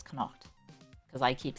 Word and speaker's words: Connacht: I've been told it's Connacht, because I keep saying it wrong.